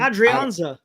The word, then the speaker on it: Adrianza: Adrianza.